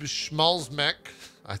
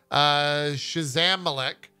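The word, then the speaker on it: Szamałek: It will be written by Jacob Schmalzmek. That's not how you say his name. Shazamalek, who was part of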